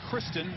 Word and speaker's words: Christine: But Gray and Kristen, although it's spelled like Christine, mom wanted a girl. Decided to stick with the name.